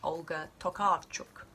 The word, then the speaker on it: Olga Tokarczuk: the Dead number one how do you pronounce the author's name well I don't know but I did go across the road and ask some polish builders and they told me it was pronounced olga tokarchuk no Burt ooh what is